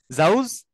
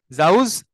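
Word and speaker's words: زوج: জোড়া অনেকগুলা পেয়ার হ্যাঁ জাউজ আজওয়াজ জাউজ আজওয়াজ হুম আমরা একটু দেখি আচ্ছা এইটা পড়তে যেয়ে জাউজ অর্থটা একটু উচ্চারণটা মনে রাইখেন শুরুতে জা লাস্টে জিম হ্যাঁ এটা যদি ঘুরে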